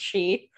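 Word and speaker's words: Xi: she excelled nailed it it's x i but it's pronounced she yeah yes uh but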